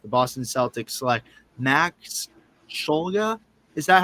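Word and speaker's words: Shulga: the NBA draft, the Boston Celtics select Max Scholga. Is that how you say it again? Shoga. Schulga.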